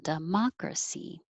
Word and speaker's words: democracy: 17, democracy, dun, dun, dun, dun, democracy.